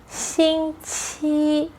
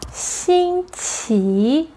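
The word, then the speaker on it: 星期: There are 2 types of pronunciation for the week. In mainland China, people use Xīngqí Both characters are flat tones, 1st tone. In Taiwan, people use Xīngqí the main difference between China and Taiwan is the 2nd-word which needs to change to 2nd tone, raising tone.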